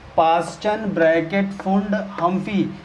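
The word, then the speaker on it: Pfund: Movement कहीं से start हो 5th पे रुक जाए, 5th पे, तो उसे फुंड बोलते हैं। फुंड, पी यहाँ पे साइलेंट है।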